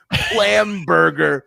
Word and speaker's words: Plamberger: His last name Plamberger Okay. rhymes with planned murder.